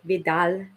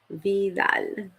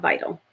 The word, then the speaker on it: Vidal: hustle here because um how do I pronounce my last name Vidal like Vidal Vidal not vital I get that too